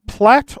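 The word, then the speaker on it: Platte: across Nebraska I believe is pronounced plat or plate depending on who you askat yeah but plat thank you for it's a plat oh thank you the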